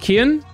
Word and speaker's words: Cian: Cian is pronounced Kian.